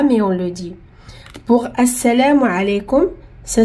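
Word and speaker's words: السلام: Mais ici on a dit assalamu parce que quand il y a l'alif ou lam et on commence avec, c'est obligé qu'on met fatha. Même si on l'écrit pas, mais on le dit, on dit as. Et on n'a pas prononcé aussi lam. Pourquoi? Parce qu'il y a shidda.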